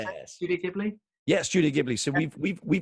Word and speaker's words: Ghibli: Studio Ghibli?